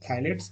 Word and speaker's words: phthalates: So this P is silent, phthalates and bisphenols.